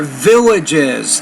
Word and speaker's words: villages: moves had trouble here villages three syllables not two villages so be careful